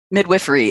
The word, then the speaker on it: midwifery: zoller bye boom you said midwifery correct midwifery is the correct pronunciation it's so gendered and i was going